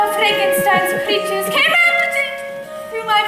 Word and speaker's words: Frankenstein: truth laughs that's Frankenstein my name it's pronounced Frankenstein yes yes the whole